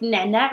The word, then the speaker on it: نعناع: No, we actually write it like نعناع with A, but we pronounce it نعناع. نعناع, like very fast. But still, at the end, we say A, نعناع.